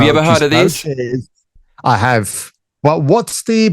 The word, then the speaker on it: mochi: Moochie donut. Moochie moochie. Moochie donuts are colorful, whimsical, Instagrammable Japanese American sweet treat trending in US. So this is actually pronounced mochi.